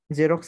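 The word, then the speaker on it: Xerox: হবে এস হয় নাকি ইজ এটা কিন্তু জ উচ্চারণ হয় ওকে আরেকটা রয়েছে ধরো এক্স দিয়ে যেমন হচ্ছে জেরক্স কিসের নাম একটা বিশ্ববিখ্যাত ফটোকপিয়ার ব্র্যান্ড ওকে খুব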